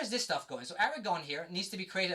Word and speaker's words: Aragorn: So from here I can actually bring in Aragorn, please pronounce like that.